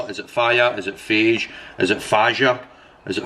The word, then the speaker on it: Fage: of beige Greek yogurt I just call it Fage by the way I know it says on the jar actually pronounced fire which actually sounds cool that's what I care